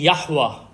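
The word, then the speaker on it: יהוה: हैं व लेते हैं यवा यवा इसके दो-तीन प्रोनाउंस है हुहा भी कहते हैं इसको इसको यवे भी कहते हैं और यह जो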